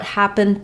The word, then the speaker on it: happened: files what happened yesterday when there's more coming after happened happened is no longer stressed and I can drop my H sound so um when I'm